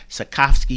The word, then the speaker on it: Sotkovsky: He said, Sotkovsky.